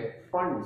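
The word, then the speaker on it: Pfund: ये पफंड नहीं पढ़ते, फंड सीरीज।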